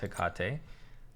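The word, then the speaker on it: Hecate: the ring of hikate and yes it's pronounced hikate has really brought mage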